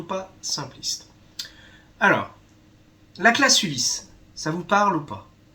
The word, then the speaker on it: Ulis: Et là, c'est Ulysse, U-L-I-S.